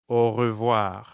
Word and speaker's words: au revoir: Au revoir. Notice how when French speakers say au revoir quickly, it can sound like one word.